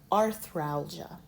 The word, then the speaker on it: arthralgia: Every syllable must have a vowel. So, arth ralgia.